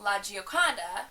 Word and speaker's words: La Gioconda: lady Lisa um the Italian way to say it is La Gioconda and the French way